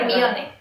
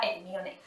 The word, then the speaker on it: Hermione: Claro, bueno, Hermione. Yo, Hermione, porque yo decía, esto está en inglés. Pues para mí, La H se pronuncia y la E pues me la pongo.